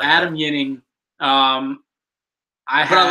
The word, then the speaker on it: Ginning: so we pick Adam yuning soft Jay or soft G I'm sorry you don't often see a soft cheek it's not he's not French he's Swedish that's that same thing